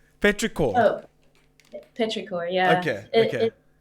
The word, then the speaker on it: Petrichor: Is how do you pronounce that name? Petrichor. Oh, Petrichor.